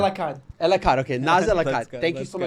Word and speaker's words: Elakkad: Elakkad.